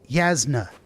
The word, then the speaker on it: Yasna: get out and walk anyway how do you pronounce her name yasna yasna is the name of my uh the